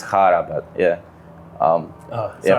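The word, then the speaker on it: Chára: slovakia chara yeah probably i would say chara or i mean it's hara but yeah um oh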